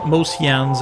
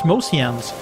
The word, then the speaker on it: Mociannes: But you know the thing about Mociannes is that I'm constantly mispronouncing it as Mocianne. That always seemed to make more sense as a name to me, but apparently it's Mociannes.